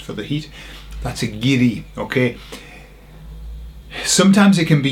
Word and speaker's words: guiri: And the word is giri. Giri. Okay. Now, have you heard this word before? It's spelled G ui R I. Giddy.